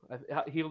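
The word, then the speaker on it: Hield: Heald is how you pronounce his last name, right? Mm-hmm.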